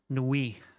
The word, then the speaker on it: nuit: We're getting French pronunciation help. Nuit.